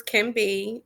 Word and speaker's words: KINB: And basically it's pronounced as can be, where you can be yourself, you can be anything.